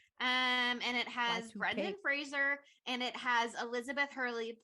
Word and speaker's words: Fraser: it turns out that's his name is pronounced Fraser not Frasier branded frasers in this